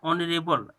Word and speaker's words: honourable: यहाँ पे देखिए है आपका ऑनरेबल, HONOURABLE, ऑनरेबल, जैसे हटा के दिखा देता हूँ, देखिए ऑनरेबल है, तो ऑनरेबल जो है तो आप यहाँ एच साइलेंट हो गया, ओ से शुरू हो रहा है, ये देखिए ऊपर में